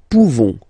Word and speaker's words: pouvons: Nous pouvons. Nous pouvons. Okay? You don't pronounce the final S.